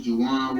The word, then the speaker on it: Jajuan: The second J is silent.